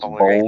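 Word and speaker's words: Baldur's Gate: It's It's pronounced Boulder Gate 3.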